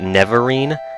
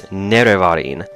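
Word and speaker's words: Nerevarine: time pronouncing that because as a kid I always just read it neverin but it definitely has four syllables it's Narin uh like Narin the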